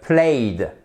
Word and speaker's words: played: Dans ce cas-là, ça le ed prononce pas comme un te, mais comme un de played.